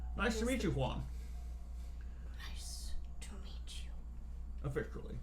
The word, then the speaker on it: Huan: His name is Huan. Nice to meet you, Juan.